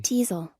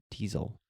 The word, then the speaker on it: teasel: Is that actually how it's pronounced? Hold on, let me double check. I have it muted here. Let me see. Teasel. Teasel.